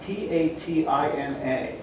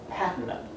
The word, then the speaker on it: patina: Anyway, pronunciations. That's important to look up. And I was witness to an argument once about P-A-T-I-N-A.